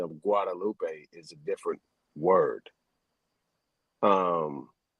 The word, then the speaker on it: Guadalupe: letter G right at that time it was pronounced like a w you know it wasn't Gua you know what I'm saying it was actually a w see a lot of these letters were pronounced a different type of way so the G spelling